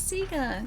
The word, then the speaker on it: Sega: That's Sega.